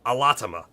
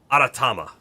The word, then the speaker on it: Aratama: uh being transformed, but I think it's actually pronounced aratama. He was doing the thing where like Japanese doesn't really have our our letter R, right? It kind of sounds a little bit like an L, but not really. And he was really going on the L, but I think he was also just giving it a bad pronunciation.